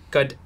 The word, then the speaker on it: Godin: Okay, in Australia we say Godin. Can you please correct me? Is it right? Is it Godin? Or how do you say it? It's a Godin.